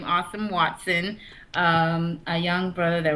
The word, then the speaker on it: Asem Watson: our guests um awesome awesome that is how you say his name awesome Watson um a young brother